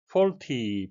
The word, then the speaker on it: faulty: Faulty, 발음에 유의하셔야 되겠는데요. AU, O 장음이 되는데요. Audio, Australia, Austria 같은 단어에서도 볼 수 있습니다.